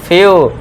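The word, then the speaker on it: few: फिर next six देखिए जब वर्ड में ई के बाद डब्ल्यू आए ई डब्ल्यू को आपको यू से पढ़ना है। देखिए डी ई डब्ल्यू इसे क्या पढ़ेंगे? ड्यू माउंटेन ड्यू आपने सुना होगा ड्यू। ये तो ऐसे क्या पढ़ेंगे? फ्यू आधा फ और पूरा यू हो गया।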